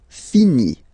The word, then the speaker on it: finit: Il, elle finit. So it, final T not pronounced.